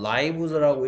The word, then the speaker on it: lives: 아까 라이브즈라고 읽었는데 왜 라이브즈라고 읽어야 되죠? 그쵸? 여기에 이 문장이 하고 싶은 얘기가 누가 뭐야? 더핀즈가 스펜드 하는데 무엇을 스펜드 한다? All their lives를 어디에서? SE 됐습니까? 얘가 명사니까 이 녀석 이 단어 LIVES는 뭐의 무슨 형? 명사의 복수형인 거죠. 동사의 3인칭 단수형이 아닌 거고. 그러니까 얘는 lives라고 읽어야죠.